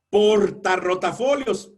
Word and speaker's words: portarrotafolios: Portarrotafolios, ah caray, en ambos casos es fuerte, pero en una tenemos una y en la otra tenemos dos.